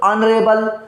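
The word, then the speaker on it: honourable: जाएगा एन लग जाएगा यहां पे देखो एस साइलेंट है उसकी गिनती नहीं होगी तो अनेबल अनेबल बोलते हैं ना ऑन रेबेल के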